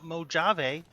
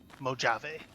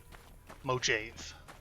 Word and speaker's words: Mojave: today we're gonna continue hanging out in the Mojave, as it's pronounced. Anybody who tells you it's pronounced some other way, is lying to you, and you should be suspicious of them. It is pronounced Mojave.